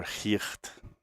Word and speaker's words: Geert: By the way, I didn't mention the firmware programming on this is by another friend of mine called Geert Bevin, or Geert, because he's Dutch.